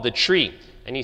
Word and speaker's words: trie: he invented it so he says it's pronounced tree from retrieval a lot of times especially if you like functional programming you'll hear people in order to differentiate it from TR EE tree people will say try